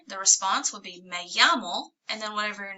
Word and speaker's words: llamo: The answer, the response would be me llamo, and then whatever your name is. Me llamo Bob. Me llamo Daniela. So, ¿Cómo te llamas? Me llamo Daniela. Double L's are Y sounds.